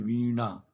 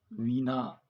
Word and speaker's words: वीणा: उच्चारण कीजिए वीणावादिनी देखिए इसमें शुद्ध उच्चारण में आपको यह बहुत अच्छे से ध्यान देना है कि मात्रा छोटी छोटी है या बड़ी मात्रा है जैसे वीणा वीना वादिनी हम नहीं कह सकते वीणा वादिनी ना में